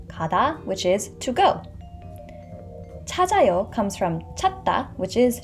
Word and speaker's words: 찾아요: And this 지읒 carries over into the empty vowel, so the pronunciation is 찾아요. 찾아요.